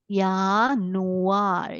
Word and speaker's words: Januar: this is y okay I read it as y because J sounds like y right so Y and a together it will become Y yanu yanu is January feu febru February and here